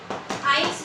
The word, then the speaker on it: IELTS: In which T is silent. T जो है ये silent है. आइल्स बोला जाता है इसको, आइल्स से लिया गया है.